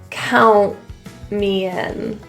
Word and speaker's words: count: Again, the T after the N in this situation turns to a bit of a glottal pronunciation. Count me in.